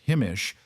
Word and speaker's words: himiş: Ottoman himiş construction, pronounced himish, uses timber frames with lime plastered infill panels very similar to English medieval techniques.